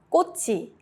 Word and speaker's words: 꽃이: 꽃이, flower plus subject marker. The 치읓 moves to E.